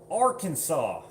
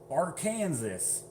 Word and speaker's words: Arkansas: I'm from Arkansas, or as people who try to read it, Arkansas.